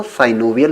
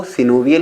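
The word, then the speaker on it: synovial: कुछ लोग सिनोवियल joint को साइनोवियल जॉइंट भी पढ़ते हैं। वैसे जो करेक्ट प्रोनाउंसिएशन है दोस्तों वो सिनोवियल ही है, लेकिन अगर आप साइनोवियल पढ़ लेते हैं तो इसमें आपको कोई प्रॉब्लम नहीं होने वाली है। दोनों ही एक्सेप्टेबल हैं, सिर्फ आपको समझ में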